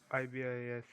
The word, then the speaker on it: ibis: Yeah, it's called ibis, and it's there's a bird called ibis. Um Oh. And in cameras, ibis stands for in-body image stabilization.